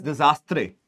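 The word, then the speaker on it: désastre: sound funny, but again, it is known as disastre or disaster. This is the pronunciation that is there. Now, the French word is pronounced in that way, but it is made up of 2 words.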